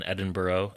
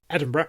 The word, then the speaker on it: Edinburgh: And uh, this book features 18 untitled chapters and an acknowledgement section and is set in Edinburghough in uh, 1645. Edinburgh.